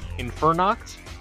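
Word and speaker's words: Infernox: of that as well is it in infer knocks yeah you got it awesome it's basically infer non nocturnal oh okay yeah it's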